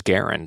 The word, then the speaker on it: Garand: John gar yes yes he pronounced his own name as Garen so yeah anyway though